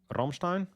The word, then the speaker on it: Rammstein: me and were like, No, it's not Rammstein, it's Rammstein. Get it right.